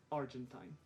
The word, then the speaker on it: Argentine: And all of those dictionaries only had one pronunciation for this word, and that was Argentine.